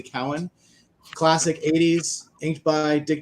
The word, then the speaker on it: Cowan: I will try and pronounce correctly. Cowan.